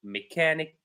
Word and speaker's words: mechanic: So ch is not always pronounced as ch or ch but sometimes we can find it pronounced as c like school mechanic schedule. By the way schedule means program basically it means program.